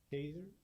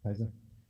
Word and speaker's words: Kaiser: Kaiser, if I pronounced that right. And then Alice, you are on deck. Actually, it's pronounced Kaiser.